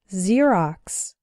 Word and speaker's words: Xerox: ex-husband or ex wife when X starts a word then it's pronounced like Z there are very few of these words in English but a couple of them are xenophobia xylophone and Xerox xenophobia means fear of